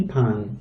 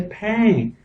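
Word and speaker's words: พัน: Si pan, pan. I always say pang. Well, see, now I just learned this. I've been saying 1,000, the word for 1,000, wrong. It's pan.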